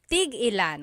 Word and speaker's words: tig-ilan: So tig-ilan, when there's a hyphen in it, you have to have that glottal stop. Tig-ilan. That means how many of each. When there's no hyphen, tigilan, tigilan.